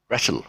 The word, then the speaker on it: wrestle: the word for example wrestle wrestling wrestle um the w silence so you don't say wrestling so you just say wrestling cut off the w cover up the ws